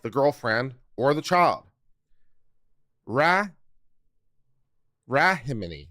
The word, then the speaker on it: Rahimi: It's not Rimini. Ramini. If you want Ramini, all right, Ramini, Ramini. I'm not sure. Rahimi. We'll go with Rahimi.